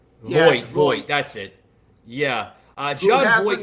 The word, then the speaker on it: Voight: I want to plug in this one video here of John Vaught. Like I said, guys, bear with me. I'm terrible how to pronounce.